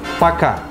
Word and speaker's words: Пока: Adiós en ruso suena así. Пока. Muy fácil. Пока. Пока.